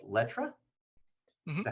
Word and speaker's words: Letra: He also has a handbag business called Letra.